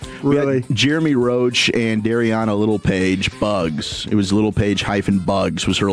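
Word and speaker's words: Littlepage-Buggs: Littlepage Bugs. Her last name is Little Page Bugs. Littlepage-Bugs. It's like little Jordan Humphrey.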